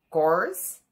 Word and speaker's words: course: vamos ver duas palavras: course, curse. Vocês estão vendo bem a diferença? Vocês olharam bem na minha boca? Course, curse. Course, curse. Diferente, né? Course. A boca faz um círculo, ó. Or, course.